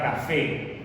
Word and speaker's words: café: Y tú pronuncias la palabra café, que es una palabra aguda, porque la sílaba tónica se encuentra en la última sílaba y allí vas a colocar el acento.